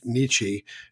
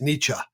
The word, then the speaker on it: niche: I will say I had a professor in college who was quick to reprimand us when we said nichi and he would say it's niche.